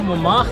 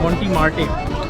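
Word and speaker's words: Montmartre: ये है जनाब मोमाख, जिसे हम अपनी प्रोनाउंसिएशन में कहते हैं मोंटी मार्टे, सॉर्ट ऑफ दैट।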